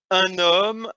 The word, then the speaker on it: un homme: So again, the liaison you notice here, un homme, un ordinateur, when it's you have a noun starting with the H, which is silent, or a vowel, un ordinateur.